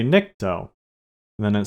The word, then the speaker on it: Nikto: because, like I said, Ash in the movie kind of coughs out the final word in order to get around pronouncing the whole thing correctly. But as we know by now, it's Nikto.